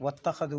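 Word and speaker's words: وَاتَّخَذُوا: ശ്രദ്ധിക്കാനുള്ളത് വത്തഖദു, വാവിൻ്റെ ശേഷമുള്ള അലിഫിന് ഉച്ചാരണം ഉണ്ടാവില്ല. കാരണം വസിലിൻ്റെ അംദയാണ്. വത്തഖദു എന്ന വാവിൻ്റെ ശേഷം മുദവ്വറായ സുക്കൂനുള്ള അലിഫ് കാണാം, അതിനും ഉച്ചാരണം ഉണ്ടാവില്ല.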